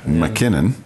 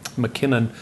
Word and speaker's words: MacKinnon: MacKinnon. MacKinnon, yep. spelt with M-A-C, which is the Scottish derivation.